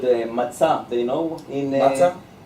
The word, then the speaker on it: matzah: How it's called matzah?